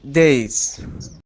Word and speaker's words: days: uh Muhammad you day days day days yeah okay good it sounds like Z at the end is it yes it does or it better it better sound like Zed yes z sound uh